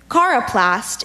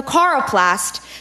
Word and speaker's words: coroplast: Cara Plast Cara plus can have the definition coroplast is a modeler of wax or terracotta figurines